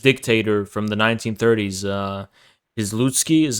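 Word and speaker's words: Piłsudski: of crypto fascist dictator from the 1930s uh izlutsky is how you say his name yeah and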